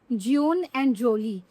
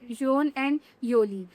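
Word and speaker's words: jeune et jolie: अ, अगर इसको ना इंग्लिश में अगर बोलने की कोशिश करें तो हम बोलेंगे ज्यून एंड जोली। तो ज्यून एंड जोली भी वही मतलब है यंग एंड ब्यूटीफुल, और फ्रेंच में इसकी प्रॉपर प्रोनाउंसिएशन होती है ज्यून एंड योली। तो इसमें आप यंग एंड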